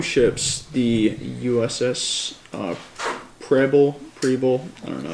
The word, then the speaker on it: Preble: So, last week, 2 ships, the USS Preble, I don't know how to pronounce that. Rebel?